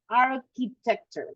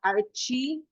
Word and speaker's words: architecture: That's I mean, you can say it's what you study, the pronunciation is architecture, not archie, but archi, okay? Architecture, that would be the correct pronunciation.